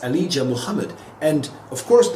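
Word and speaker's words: Muhammad: Mohammed it's a leader Mohammed and of course the H is pronounced because it's a name of Arabic derivation but of course it's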